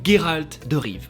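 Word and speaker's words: Geralt de Riv: de notre histoire s'appelle Géralt de rive avec un gu parce que c'est la prononciation d'origine ouais je me suis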